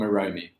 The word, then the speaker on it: Eromie: appointed heat of early years oromi welcome aromi thank you matt and you said my name